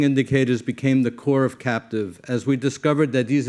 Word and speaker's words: CAPTIVE: Comparative Assessment and Performance Tool for Innovative Workplaces, pronounced CAPTIVE.